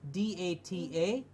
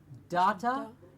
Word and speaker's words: data: very often mispronounced word da ta it's not data it is data like the date of what the date is today it's data please remember data yes excellent something that